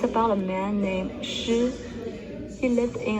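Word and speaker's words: 马: For example, the word for mother is ma. Here is what it looks like. Say ma. Ma.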